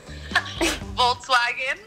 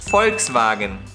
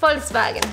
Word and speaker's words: Volkswagen: Volkswagen. Okay? The correct pronunciation is Volkswagen. Volkswagen. Just say the V in the beginning a little bit sharper.